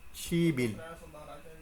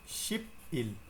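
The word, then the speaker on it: 십일: আপনাদের একটু খেয়াল করেন উচ্চারণ আমরা জানি এটা হচ্ছে শিপ এটা হচ্ছে ইল তাহলে কি হওয়ার কথা শিপ ইল তাই না কিন্তু আমরা গত ক্লাসে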